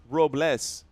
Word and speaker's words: Robles: Technically, it's pronounced Robless.